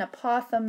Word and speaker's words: apothem: to write the word I'm just going to spell it and then I'll say it for you a p o t h e m and you say that apothem apothem and the